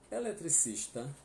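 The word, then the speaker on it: electricista: Eletricista, eletricista. Eletricista é bem parecido, tá? Só vai entrar um C que tem som, né? Não é mudo. Eletricista. Você não pode ler eletricista, tá?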